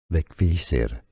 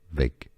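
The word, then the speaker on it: Vegvísir: In Icelandic, it's said something along the lines of Vegvisir, Vegvisir.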